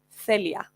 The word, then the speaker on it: Celia: on how to pronounce my name Celia say Leah a lot of English speakers say that Spanish speakers have a lisp but no that's just the correct way to pronounce soft C's so Celia is my